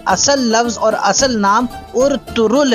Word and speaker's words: Ertuğrul: दुरुस्त कर लें कि इसका नाम जो कि उर्तुगरुल कहा जाता है, इसका असल नाम है उर्तुरुल, क्योंकि ये तुर्की के बहुत बड़े मुजाहिद थे और टर्किश ज़ुबान में गैन का लफ्ज़